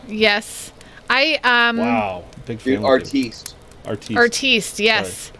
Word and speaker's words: artiste: the sandwich artist now. Yes. Wow. Big fan. Dude, artiste. Artiste, yes. Sorry, pronounced it wrong.